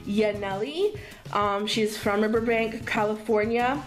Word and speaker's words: Yaneli: i'm not sure but her name i believe is it's pronounced yaneli um she's from burbank